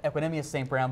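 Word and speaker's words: Equanimeous St. Brown: It is pronounced Equinemius St. Brown, but EQ is so much easier.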